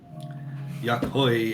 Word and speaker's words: Yakhoi: Oh, Yakois? I'm trying to say correctly. Yakois? Yakhoi is fine. You have good pronunciation.